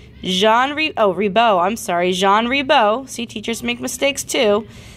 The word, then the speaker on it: Jean Ribault: Ribault right what's pronounced it's a French name it's called Jean rebo landed on a small island in the st.